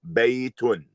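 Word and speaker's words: بيتٌ: And it implies that you say baytun. Baytun.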